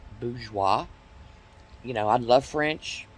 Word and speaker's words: bourgeois: f-o-y-e-r it's really four-year it's no different than people today saying uh bougie it's actually bourgeois you know i love